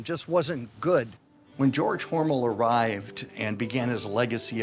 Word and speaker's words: Hormel: know what you're thinking John mispronounced Hormel no Hormel is the company Hormel is the family it was changed by the marketing department because they thought Hormel sounded too German it was back in